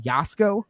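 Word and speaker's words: Jasko: investigators I watch uh uh his name is pronounced yasuko but it's j-a-s-k-o and also another channel is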